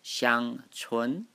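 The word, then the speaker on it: 香椿: The Chinese name pronounced Xiang Chun, S-H-I-A-N-G, T-S-U-E-N.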